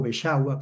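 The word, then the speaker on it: Beczała: La soprano alemana Diana Damrau, la metsos soprano Oscana Volcova de Bielorrusia, el tenor polaco Piotor, Bexala o Besagua como nos decía él que se pronunciaba y el barítono serbio Shelko Lush.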